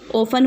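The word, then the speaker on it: often: ओपन मतलब होता है अत इसमें साइलेंट होता है ओपन हो बोलते हैं इसको सील वॉइस ओपन एंग्री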